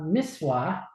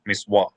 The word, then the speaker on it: mitzvah: Answer, as is well known, it is a mitzvah. That is mitzvah, a commandment, and closer to Oh, mitzvah. ancient Okay. classical Hebrew pronunciation. Miswa, miswa.